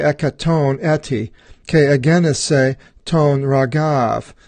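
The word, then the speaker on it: Ῥαγαῦ: Ke ezise phalek triaconta ke ekaton eti, ke agenise ton ragav, and that is pronounced ragau in the New Testament. In the Old Testament they used reu in the King James.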